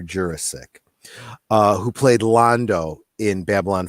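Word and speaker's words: Jurasik: I met Peter Jurassic his name is pronounced Peter Jurassic who played Londo in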